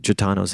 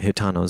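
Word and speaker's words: Gitano: texmax but um I I always think Janos in my head but hitano is the pronunciation so thanks for that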